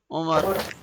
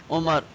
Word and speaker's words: Umar: Now, people in Urdu usually call me Umar, Umar, Umar. But the correct pronunciation of the word Umar is from Ain, Umar, like this, Umar. Because Ain is a deep letter, Umar. Yeah, Ain is deeper, Umar.